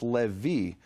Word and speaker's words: Levi: those is Levi and there's no question whatsoever that 1500 years ago in the land of Israel the Jews pronounce that sound as a v the interesting thing is